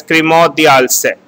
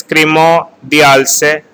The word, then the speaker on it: Crémant d'Alsace: It is pronounced as Crémant d'Alsace. Next is Crémant de Bordeaux. First is Crémant d'Alsace, Crémant de Bordeaux, Crémant de Bourgogne.